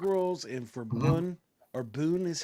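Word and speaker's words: bún: for Vietnamese egg rolls and for Boon or Boon is how it's pronounced um which is a uh which is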